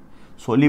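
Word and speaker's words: Solih: सोली बोलते हैं, आप इंग्लिश में इसको इस तरीके से लिखा जाता है, ये प्रोनाउंसिएशन है, ध्यान रखें।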